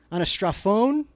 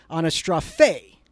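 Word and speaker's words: ἀναστροφή: So what we are trying to understand is a couple of words in Greek: anastraphon, pate. Actually, I pronounced that wrong. Anastrophe. The end is phe, pate.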